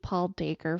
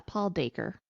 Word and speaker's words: Dacre: Okay, so also, the editor-in-chief, Paul Dacre from Associated Newspapers, put out that like I think it was like a 3-minute video.